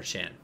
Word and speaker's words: Chuan: Is it Chuan or Chan? Chuan, It's right? Chuan.